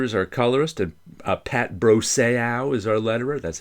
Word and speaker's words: Brosseau: So now I say it like Bro and Junior Seau.